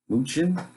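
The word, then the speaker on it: Mnuchin: directives by may 1st moochin is how you pronounce that Muchin said failure will have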